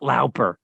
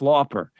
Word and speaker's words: Lauper: albert lauper it's like it's not lauper it's lopper law jeff goldblum yes yes